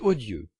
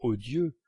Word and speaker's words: odieux: doit être brisée c'est odieux à la maison j'avais toujours entendu dans odieu prononcer l'eau long odieu mais Monsieur et Madame Swann disait odieu en faisant l'eau bref pensez depuis 2hes de